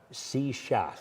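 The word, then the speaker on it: shíshálh: the SE Shak sheath se shath you have to drag your tongue we've had an exciting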